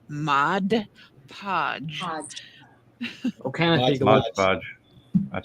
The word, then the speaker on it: Mod Podge: Now, if you dab a little bit of paint in a Mod Podge, when you go Now we just need to teach y'all how to say it. It's 2 words. Mod Podge.